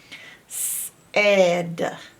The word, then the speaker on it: said: You would think it should be an E, like to make an S sound, but it's not. It's A-I. Said. Said. It's not even a normal vowel team. It's just strange altogether. So this is the part we have to learn by heart. A-I makes the S sound in said.